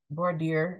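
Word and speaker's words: voir dire: going to talk about war Dyer um boardier is how some people pronounce it and it's mainly going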